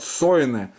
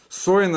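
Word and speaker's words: שונא: На вестерне говорят сойне. Сойне это арамейский. Вот. Син, значит, вов, нун, алеф.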